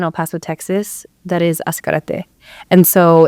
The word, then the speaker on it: Ascarate: And so there's an area in El Paso, Texas that is Ascarate. And so it's spelled with an S, but we spell it with a Z.